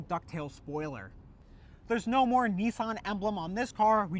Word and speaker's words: Nissan: So, the number two in Japanese is pronounced "ni", and then three is pronounced "san". Therefore, these taillights read Nissan in Japanese.